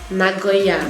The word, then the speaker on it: Nagoya: Nagoya. Nagoya. Nagoya, yes. Nagoya. Yes, that's how I pronounce it.